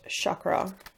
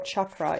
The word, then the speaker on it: chakra: We have throat chakra, or chakra if you pronounce it correctly.